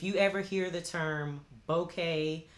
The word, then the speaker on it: bokeh: ever hear the term bokeh sometimes it's pronounced boca but mostly i've heard bouquet that is that they